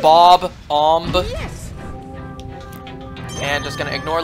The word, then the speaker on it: Bob-omb: Does anyone else always just pronounce ba-bomb like that? A ba-bomb? Instead of Bob-omb?